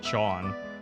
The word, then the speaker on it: Jean: red hair I remember his name was John the way that's spelled in French so J is so j e j e a n that spelling John is